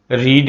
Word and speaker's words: read: রিড এর past participle রেড, READ, রেড। বানানটা একই কিন্তু উচ্চারণটা ভিন্ন। রেড by Jemimah, she is boiling water, ওয়াটারের সাথে ইজ বসবে।